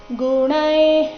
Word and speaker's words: ಗುಣೈಃ: ಮಾ ಣ ಎರಡು ಸಹ ದೀರ್ಘ ನಿ ರಸ್ವ ಬರಬೇಕು ಗುಣೈ ಕರ್ಮಾಣಿ ಸರ್ವಶಃ ಗುಣೈ ಇಲ್ಲಿ ಗುಣೈ ಆದ ನಂತರ ಇರೋ ವಿಸರ್ಗದ ಉಚ್ಚಾರಣೆ ಸಹ ಅರ್ಧ ಕ ರೀತಿ ಮುಂದಿನ ಶಬ್ದ ಕರ್ಮಾಣಿ